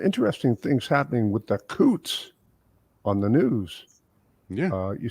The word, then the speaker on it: Coutts: hey uh some interesting things happening with the Coots on the news yeah you see the Coots